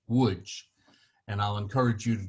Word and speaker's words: Łódź: So the L with a line through it actually is pronounced like a W.